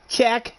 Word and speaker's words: Cheech: Cheech and Chong. It's pronounced Check. It's pronounced Check. Haha.